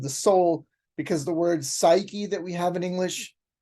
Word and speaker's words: psyche: Soul because the word psyche that we have in English and of course the p is silent p s y c